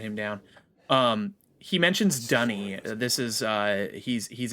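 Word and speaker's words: D'ni: missed lore uh dunny it's spelled d apostrophe n-i um but yeah it's pronounced dunny for some reason um that is actually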